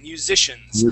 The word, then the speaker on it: musicians: this word right here musicians make sure to pronounce that S at the end musicians yeah musicians good good